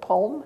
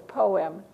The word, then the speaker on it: poem: But when you see that P-O-E, the O-E saying, oh, is it poem? No, it's poem.